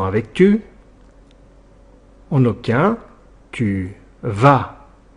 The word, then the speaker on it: vas: En aucun, tu vas attention au s à la fin qui est muet et qui ne se prononce pas.